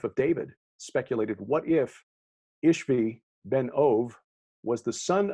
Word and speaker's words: Ishbi: ishbi ben ove because the bee in hebrew is actually pronounced like a v in english so ishbi would be